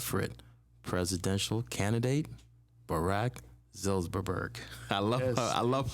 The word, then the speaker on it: Zilberberg: I kind of want to talk it into existence and say presidential candidate Zilberberg.